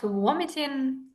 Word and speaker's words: vomiting: Yeah, it's about vomiting, about nausea. Definitely. And we would say this is a very hard V sound.